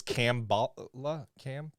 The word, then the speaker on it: Kamala: Well, remember that it rhymes with ham bala. That's a lot. Oh, that's very helpful. Very helpful. Okay. Right? So her name is Cambala?